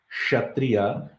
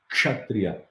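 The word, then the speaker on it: क्षत्रिय: This K is not silent, you should not be saying Kshatriya, you should pronounce that K, Kshatriya. I'm going to slowly say it, exaggerating it so that you understand. K, Kshatriya, K, Kshatriya, K, Kshatriya. That K, I'm going to reduce it. K, Kshatriya, Kshatriya, Kshatriya, Kshatriya, Kshatriya, Kshatriya, Kshatriya, Kshatriya. That K sound should be there.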